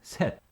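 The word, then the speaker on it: 셋: hana hana two is tul tul three is set set four is net net so one two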